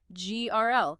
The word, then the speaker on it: girl: Oh, this one is notoriously tricky for many learners because of the combination of the R and the dark L sounds together. Grl. The sound is formed mostly in your throat for the G and R. And then your tongue tip should ideally be behind or beside your upper teeth for the L sound.